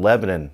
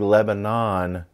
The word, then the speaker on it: Lebanon: This is back close to where I lived in Tennessee in a place called Lebanon. That's right. When you're from Tennessee, you call this area Lebanon. Even though it's spelled like Lebanon, it's pronounced Lebanon for the locals.